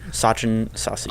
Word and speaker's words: Sachin Sasi: Sachin Sasi.